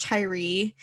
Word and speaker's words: Tyria: In January of 1986, she walked into a Florida gay bar and met 24-year-old Tyria it has an A, but I've heard it pronounced Tyree.